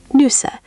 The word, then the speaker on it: Nüsse: N-U with two dots, that's an umlaut, then S-S-E, Nüsse. The U is a rounded sound. Shape your lips like you're saying oo, but try to say E. Try it. Nüsse, Nüsse. You're getting there. That second attempt was much rounder. Nüsse.